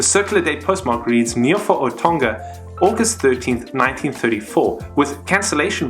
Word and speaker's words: Tonga: Stamps pre-mid-1940s spelled Tonga without the N, although it is pronounced Tonga with the N.